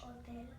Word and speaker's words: hotel: Hotel. Hotel. So the H is silent. You don't hear the H, but you hear it in the English language, correct?